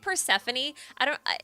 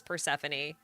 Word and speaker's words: Persephone: And I had to relearn her name as Persephone. It took so long. So it was so ingrained in my brain. Her name is Persephone. Like, nope, Persephone. So I think pronouncing the E is technically correct.